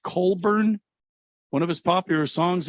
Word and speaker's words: Cockburn: uh writer or singer bruce cockburn pronounced colburn one of his popular songs if he had a rocket launcher not sure if you remember i i don't bruce colburn hmm boy it seems